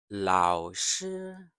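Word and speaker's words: 老师: So actually, both tones are steady. So the third tone is steady but low. The first tone is steady but higher. So as long as you have the difference, you will be fine.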